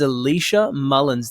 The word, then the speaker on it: Elisha Mullins: or not here with us her name is Alicia Mullins did I say that last name correct you